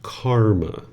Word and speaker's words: karma: So the Sanskrit language is pronounced karma right and then the pi version which is what the original teachings of the Buddha in.